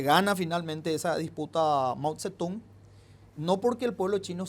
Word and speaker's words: Mao Zedong: Se escribe Mao Zedong, pero en chino la Z se pronuncia como Z y la D se pronuncia como T. Entonces no se dice Mao Zedong.